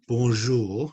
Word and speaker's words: bonjour: So when we say bonjour, remember it's a really soft je. Can you hear? Can you say that? Je, je, je, je, je, je. Yeah. Bonjour, bonjour.